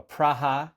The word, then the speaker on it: Praha: Dorian just got back from Emergence in Prague, or Praha, as he informs me the locals pronounce it.